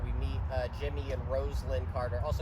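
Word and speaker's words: Rosalynn: meet uh Jimmy and Roslin Carter also yes that's how you pronounce it Roslin not Roslin I got to do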